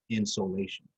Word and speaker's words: insolation: of incoming solar radiation, insolation. It's unfortunate that it sounds like something that you would put in your attic to warm your house, but it's spelled differently. Sol, like solar, like incoming solar radiation.